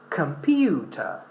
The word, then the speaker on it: computer: All right, but this O is pronounced as in a weak form. So we say computer, computer, computer.